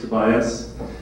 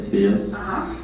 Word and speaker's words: Tobias: You would say Tobias. My parents say Tobias. That's how we say it.